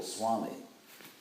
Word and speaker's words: Swami: very strong argument that the Sanskrit V was originally pronounced as a W, which we still do, like in, for example, Swami. The V is pronounced like a W.